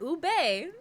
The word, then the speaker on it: ube: Ube. There you go. There you go. Make sure to pronounce the E.